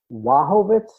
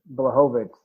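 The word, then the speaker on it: Błachowicz: I have always pronounced it Blachowicz, but he says it's Wachowicz.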